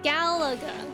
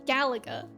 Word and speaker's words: Galaga: saying it right 14 is so special G Galaga Galaga like that my parents won't talk about Galaga it robbed them and took their house shoot me me Gaga me Galaga Galaga 14 you have to admit does get